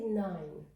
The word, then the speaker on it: nine: The I, it has a long I, A-I, and the E, it hasn't pronounced any letter. We all know that it's a rule, E at the end, it hasn't any sound.